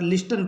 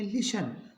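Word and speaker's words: listen: टी एन इसको ज्यादातर लिस्टन पढ़ते हैं यह नहीं होगा एल आई एस टी एन टी का उच्चारण नहीं होगा इसको पढ़ेंगे लिशन ओ एफ टी एन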